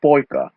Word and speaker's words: poika: But it's basically I and an, if you think more closely, but it's pronounced like ayan, okay? The same for poika, a boy.